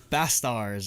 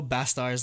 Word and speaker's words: BASTARZ: us off we have bass stars are the stars I forget how they pronounce esters yeah it's supposed to be like bastard but like it's a